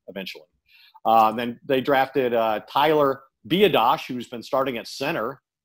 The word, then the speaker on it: Biadasz: I now know how to correctly pronounce the center's name. It's Biadasz. I wasn't exactly sure. Biadasz.